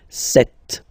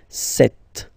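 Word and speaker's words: sept: Then here, remember, p is not pronounced, okay? It doesn't exist, so you get this set sound. Set, set.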